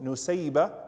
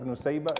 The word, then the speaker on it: Nusayba: And her name is also Nasiba. Both pronunciations are correct. So her name is recorded as both Nusayba and Nasiba.